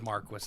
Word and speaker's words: Marquis: um so in Saskatoon is it Marquee or Marquis see now I have been told by good sources that it is Marquis and that drives me